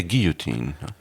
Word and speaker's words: guillotine: Or would it be a guillotine? I think that's the French pronunciation. The English pronunciation is with a hard L.